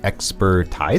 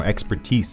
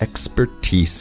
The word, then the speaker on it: expertise: expertise here yeah expertise to just watch the pronunciation of this word looks like expertise expertise yeah but no expertise expertise and it just means a lot of knowledge